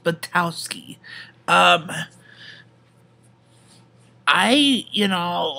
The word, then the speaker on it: Buttowski: our other competitor kik batowski that's pronounced batowski um i you know